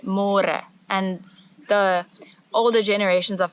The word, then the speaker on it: môre: It's a little bit easier, but you have to remember to read môre, because in English it's spelled like more. So don't say more, say more.